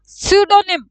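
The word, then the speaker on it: pseudonym: हमारे पास आ गया पी is silent यर सोनिम क्या बोलते हैं हम इसको सोनिम अजूम का मतलब क्या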